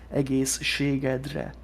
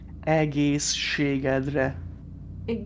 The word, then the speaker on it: egészségedre: You won't see it anywhere written down unless it's written in phonetically. That's so interesting. So the whole word is egészségedre. Can you say it again? Egészségedre.